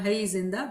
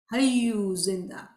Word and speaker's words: Hayyu Zinda: And today if you go to Jamaat Khana and if you say, Hayyu Zinda, you hear in Jamaat Khana, Hay Zinda, but the right pronunciation is Hayyu Zinda.